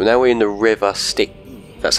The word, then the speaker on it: Styx: So now we're in the river Styx. That's how you pronounce it.